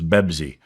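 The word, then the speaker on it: بيبسي: Now they don't pronounce the P word in Arabic, so it's Bebzi.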